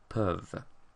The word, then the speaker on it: peuvent: pouvons, pouvez, but then when we get to il, elle, we have EU again, and so we have this E in il, elle, peuvent.